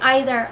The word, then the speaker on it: either: So, when you say either and either, neither and neither, both pronunciations are accepted.